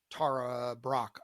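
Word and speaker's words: Tara Brach: or two ago um Tara Brock I believe is how you say her name b r a c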